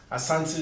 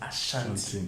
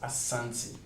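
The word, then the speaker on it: Asante: Ashanti is just that's the actual pronunciation.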